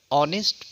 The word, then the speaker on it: honest: Just as h consonant, but honest pronounce o, therefore an honest man, an aeroplane, like that.